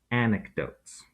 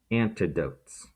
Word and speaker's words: anecdote: of what we call anecdotes not antidotes an anecdote pronounced an neck dote is a personal story